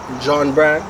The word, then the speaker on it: Jhaun Bryan: Saying further, we're here with Jhaun Bryan. Did I pronounce it right?